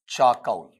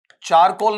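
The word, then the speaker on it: charcoal: इस तरीके से आएगा चा कौल चार कोल नहीं चा कौल ऐसा बनेगा अलग करते हैं बेटा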